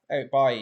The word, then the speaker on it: Eric Bailly: Is that how you pronounce his name? Eric Bailly, yeah.